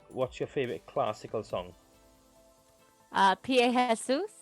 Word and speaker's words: Pie Jesu: Pie Jesus. It's a Latin song. I know that song. I didn't realise that's how you pronounced it, but I do know the song.